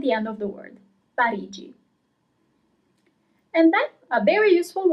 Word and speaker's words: Parigi: Paris, as I'm living in Paris now, is Parigi. So here you have GI in English at the end of the word, Parigi.